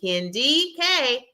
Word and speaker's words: Kendi K: It's emphasis on the D, Kendi K all day.